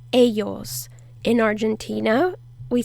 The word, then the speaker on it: ellos: in spanish the word ellos is them or they um and in some countries like where i was born in argentina we say eschos eschos and in some other